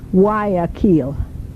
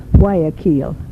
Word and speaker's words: Guayaquil: It's spelled Guaquuill, and it's pronounced actually Guayaquil. Guayaquil.